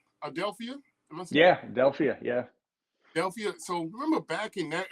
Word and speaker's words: Adelphia: Adelphia.